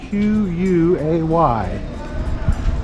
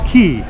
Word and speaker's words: Quay: And we're just going to take a quick walk up this shopping area, which is known as Heritage Quay, even though it's spelled Q-U-A-Y. It's Quay, not Quay.